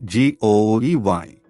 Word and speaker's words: GUI: computer with a graphical user interface or GUI pronounced g-o-e-y all Macs are made by one company Apple